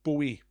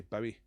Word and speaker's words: Bowie: Or Bowie, however you like to say it. I think he was happy with either pronunciation. Bowie or Bowie. I tend to say Bowie. Like bow wow wowie.